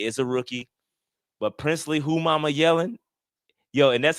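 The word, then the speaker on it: Umanmielen: He is a rookie, but Princeley who mama yelling yo and that's how you say it, too, bro.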